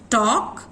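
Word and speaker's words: talk: नो, एल होते हुए भी एल की साउंड सुनाई नहीं पड़ती। वॉक, टॉक, हाफ, हाल्फ नहीं होता, इट इज हाफ।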